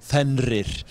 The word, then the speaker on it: Fenrir: pronounce it correctly. Fenrir.